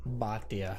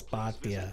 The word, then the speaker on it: Bhatia: Bhatia. For more profiles in courage or to explore opportunities, you didn't say it right. It's Bhatia.